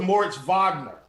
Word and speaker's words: Moritz Wagner: Along with Moritz Wagner at 4K at the power forward spot. It's just he impeccable. is starting. That pronunciation is just, that was beautiful. It's like German in high school.